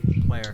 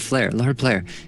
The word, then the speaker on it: Blair: Blair. It was We say it wrong every Blair. time. I keep calling him Lord Flair.